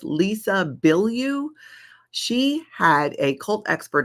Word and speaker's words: Lisa Bilyeu: And I think it's pronounced Lisa Bilyeu.